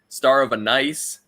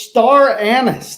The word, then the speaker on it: star anise: stuff star of annis star of a nice there's no of in it it's star anise that's it every other thing i've